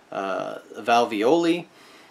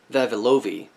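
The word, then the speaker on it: vavilovii: Okay, so if we're talking about 60 pairs of chromosomes in valvioli, that's actually something that... Vavilovi. I keep mispronouncing that word because it's really hard to pronounce.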